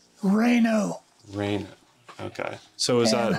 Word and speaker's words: Reno: Adams Rhino Reno Reno r-e-n-o right but it's pronounced reyno Reyna okay so is